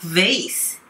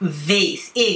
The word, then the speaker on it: vase: The TV show overplayed the value of the antique vase.The TV show overplayed the value of the antique vase. Value, L がうですね。価値。 Of the antique. Antique ではなくて、えの発音ですね。伸ばされますね。Antique vase。A があるので、E を入れますね。花瓶のことですね。アンティークの。テレビ番組は、そのアンティークの花瓶の価値を誇張して言ったってことですね。